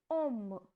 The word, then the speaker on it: homme: So, as I told you, H is always silent, so the pronunciation will be om.